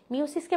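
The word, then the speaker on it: meiosis: মিওসিসকে মায়োসিস বলে না, দুটো একই। অনেকে উচ্চারণ করে মিওসিস, অনেকে উচ্চারণ করে মায়োসিস, ঠিক আছে?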